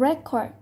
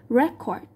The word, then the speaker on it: record: trò là danh từ, nên thường thì danh từ chúng ta sẽ rơi vào trọng âm thứ nhất, còn động từ thì rơi vào trọng âm thứ hai.